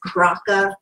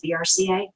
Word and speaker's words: BRCA: right BRCA is correctly a lot of people know it as Branca the Bronco gene but it's really the correct way to say it is BRCA right I guess a